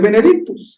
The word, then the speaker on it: Benedictus: el versículo 68 bendito en latín así se pronuncia el Benedicto es la primera palabra